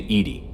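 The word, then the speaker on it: EDI: why are you named Edy Ed is the phonetic pronunciation of Eed that is an acronym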